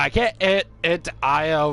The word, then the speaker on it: Io: can't get it to IO right now and yes for those who don't know that's how legitimately you pronounce that moon I oh there's there's you know